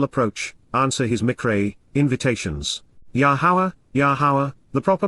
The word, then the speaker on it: Yahowah: but one acceptable approach answer his mcra invitations yahawah yahawah the proper pronunciation of yahwah our eloa God has directed